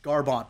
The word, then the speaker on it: Garbrandt: I don't want to like tear anybody down, but it's like Cody Garbrandt, like he's gotten in fights with it's Garbrandt, bro. Garbrandt, sorry, my pronunciation's not good.